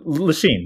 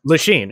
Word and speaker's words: Lachine: He started working in construction, and you're going to have to help me with my pronunciation, Jesse. He constructed the Lachine Canal? Lachine, yes. Lachine. Okay, great. You got it.